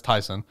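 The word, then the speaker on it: Taisun: For a guy that I don't know how to pronounce his last name either. His name is Tyson. I know it's Tyson.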